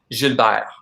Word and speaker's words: Gilbert: And the proper pronunciation of that, if I'm saying it fully with like my French accent, it's Gilbert.